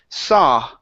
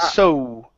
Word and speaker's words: saw: Yeah, right here instead of so, okay, the AW is an ah sound. Saw. Saw. But isn't the past of see? Hmm. It is the past of see, but it is pronounced saw instead of so.